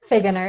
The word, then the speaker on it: Figgener: excited to welcome tell me how you pronounce your last name I want to make sure I say it correctly Hagen er it's just really what it is okay good to dr.